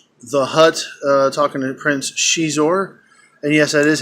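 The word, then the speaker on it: Xizor: is uh mister the Hutt talking to Prince she's or and yes that is how it's pronounced and the novel does mention that that's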